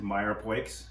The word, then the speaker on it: mirepoix: to it the classic mirepoix onion here celery and then we're adding leeks for any leaks we like to pronounce it Meyer pikes because it's like to have a little digging into the French but respect right oh